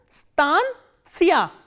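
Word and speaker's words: станция: And the stress is on a. So, that you have to keep in mind. This is stancia, stancia, stancia.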